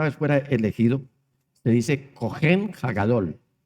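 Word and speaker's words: כֹּהֵן: al Señor la palabra original para sacerdote es cogen se escribe seo h e n y para el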